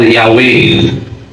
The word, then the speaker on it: Yahweh: Ang JHBH ay kinilala sa simbahan kasi ang pagbigkas niyan ay Jahwe or Yahweh.